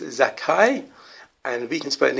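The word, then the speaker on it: Zaccai: zakai numerical number h214 still pronounce zakai although spelled z-a-c-c-a-i or how he wants you you can't even spell it z-a-k if you want to um to get the zek um and the kai so it's not the spelling that counts to the pronunciation so there's those the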